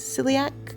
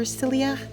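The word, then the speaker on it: Syilx: me to pronounce but the spelling is Sy y i l x and I believe the pronunciation is silak or silak um so I do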